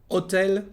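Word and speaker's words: hôtel: Hotel, the same thing.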